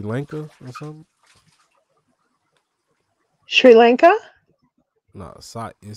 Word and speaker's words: Sri Lanka: like Indonesia and um s Lanka or something Sri Lanka no it say s r i Lanka yeah Sri Lanka oh okay it's pronounced it's like the West the the Indies